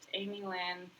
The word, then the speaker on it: Amielynn: And I'm like, no, just Amielynn. Here's how you spell it. And it's Amielynn, not. You can please have that third syllable there.